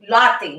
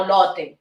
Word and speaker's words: Lotte: lotte lotto world and it's very easy to pronounce lotte it's lotte or latte latte no lotte lotte world okay the next